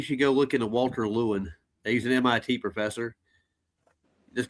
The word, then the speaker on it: Lewin: No, it's Lewin.